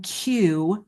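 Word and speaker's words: Kew: Um, and this is actually these statistics are from a study from the Royal Botanic Gardens in Q London and that's spelled K E W.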